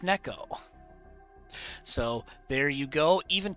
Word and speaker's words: Nek0: And uh today, I learned it is pronounced Neco.